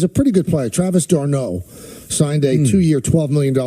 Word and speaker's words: d'Arnaud: And I believe his name is pronounced d'Arnaud.